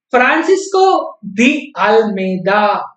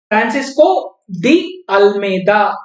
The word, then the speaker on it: Francisco de Almeida: Francisco de Almeida, or he is also called as Francisco de Almeida. Depending on your comfort level, you can pronounce his name. So, Francisco de Almeida or Francisco de Almeida.